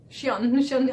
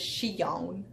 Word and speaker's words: Xion: Xion, I'm trying real hard to pronounce her name. Not like I usually do, which is Xion. Like the American that I am, Xion.